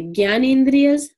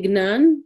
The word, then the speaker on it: Jnanendriyas: Pancha Jnanendriyas. This is pronounced differently depending on what part of India you come from. If you're from the north, you'll say Gyanendriyas. If you're Gujarati, you'll say Gnan.